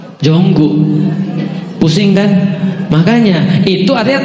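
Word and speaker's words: Jungkook: Itu kan tulisannya Jungkok, bacanya apa? Bukan Jungkok. Jonggu.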